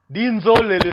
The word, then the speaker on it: Dinzolele: La même prononciation, non, porque Dissolé, não temos N. Semelhança. Dissolé, on n'a pas de N. Dinzolele, on a N.